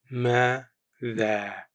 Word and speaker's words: ماذا: ماذا What, pronounced ماذا دع To invite or call, pronounced دعا with a quick stop at the end.